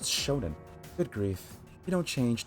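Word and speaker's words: shōnen: That's pronounced shonen.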